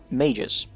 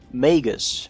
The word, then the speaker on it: Magus: in thread have expressed surprise that majors is pronounced majors not Magus or Latin style Margot's no its majors and all other ways to say it are wrong they are about as